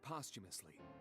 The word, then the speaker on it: posthumously: right eyeball pulled out posthumously that's how you say that I thought it was posthumously me too I didn't realize you just basically combined the second syllable together like that okay posthumously sounds like you're saying possum a few days that we saw I